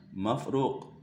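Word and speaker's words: مفروق: Bacanya mafruq, maqrun.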